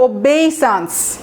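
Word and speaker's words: obeisance: সো ওবে থেকে ওবেইসান্স, ঠিক আছে, আমার উচ্চারণটা দেখবেন, ওবেইসান্স, ওবেইসান্স, SAANCE, এটা হচ্ছে নাউন।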